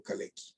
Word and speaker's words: Kalecki: exacta pero en michael kalecki vocales que si pronunciamos su nombre en polaco como él era polaco que no era economista era matemático kalex vocales y había escrito no hagas esto ningún